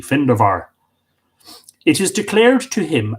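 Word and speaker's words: Findabair: great stories about him actually the correct pronunciation in uh middle irish uh of the finderbar would be findover the the bee with lenition sounding like a v findovar it is declared to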